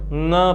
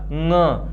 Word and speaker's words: ङ: सदैव ङ पढ़िएगा। क्या पढ़िएगा? ङ। बहुत ही स्पष्ट रूप से इसका उच्चारण कीजिएगा।